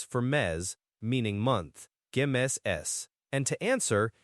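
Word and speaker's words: mes: You'd say gs me m e s for mez meaning months and to answer you could say month name is estamos and month name we are in month name estamos.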